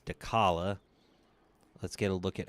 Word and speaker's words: Dechala: Also, I apologize for pronouncing her name. Dchala like a dummy. It's Dala.